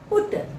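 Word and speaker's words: put: एस बस P yeti पुट यहां पर हम पी यूटी को पट नहीं पढ़ेंगे दोस्तों इंग्लिश में इसका उच्चारण पी यूटी का पुट होता है एस यूटी सट नहीं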